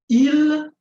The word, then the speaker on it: ils: Ils vont bien. So as you can see here, the S is always silent.